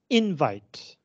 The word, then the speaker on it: invite: means invitation uh but you will notice that the pronunciation is different find your bin as a verb this is invite as a noun it is invite this is something that